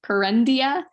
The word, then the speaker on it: Kerendia: So I know this is a stretch because it's pronounced Kerendia, but Karen is in the name.